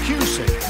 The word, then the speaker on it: Cusick: That's Cusick. Rhymes with music.